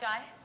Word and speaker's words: chai: It's not chai, it's jai. No, chai. Chai. It is chai. chai. She was like correcting me like the whole time. Okay. Oh, wait. Are we out of chai?